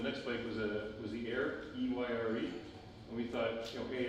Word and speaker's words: Eyre: Everyone will have, Jane Eyre. It went nowhere, and people don't associate a classic English novel with a bike, believe it or not. So we got so many mispronunciations of that Irie, Erie.